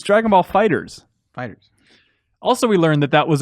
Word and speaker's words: FighterZ: Fighters.